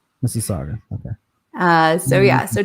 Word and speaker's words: Mississauga: looking at um toronto on the map okay misagawa mississauga mississauga okay uh so yeah so toronto is where